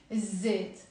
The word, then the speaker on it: الزيت: We will say الزيت يعني the oil. So we don't pronounce the lam.